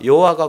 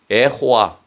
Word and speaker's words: 여호와: 너희를 구원하신다 여호수아의 히브리의 언어인 여호와라고 하는이 의미가 여호와가 구원하신다는 거예 원래 히브리어로 호라고 하는 거예 여호수아